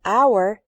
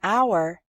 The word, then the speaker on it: hour: We say a hat because hat starts with an h sound, but in the word hour, the h is silent, so we say an hour.